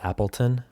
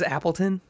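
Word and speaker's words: Appletun: tanky his name is Appleton is that the Apple like how you would spell it in English t-u-n Appleton sounds like a little fancy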